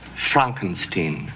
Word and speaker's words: Frankenstein: My name is pronounced Frankenstein. Frankenstein.